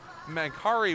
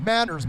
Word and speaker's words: Manders: getting that name wrong mankari was what he was called for a lot of the tournament so apologies to the man kerry family about that we do our best here at this uh tournament but uh it looks like it's supposed or it looks like it's spelt that way so as toronto will break over the line it's manders manners we'll let the shot